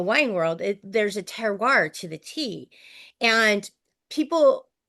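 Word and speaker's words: terroir: places like the wine world it there's a teroir to the tea and people I have this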